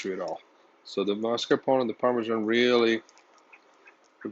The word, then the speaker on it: mascarpone: thing here we have mascarpone cheese yes i said it right mascarpone so instead of just